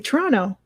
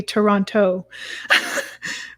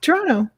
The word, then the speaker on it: Toronto: a different city, because they'll often fully and completely pronounce the T's in Toronto, and we say obviously Toronto. We don't say Toronto. We just say Toronto.